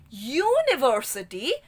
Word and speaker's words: university: Now here when we pronounce university, the sound of Y-O-U is coming. And the sound of Y is here.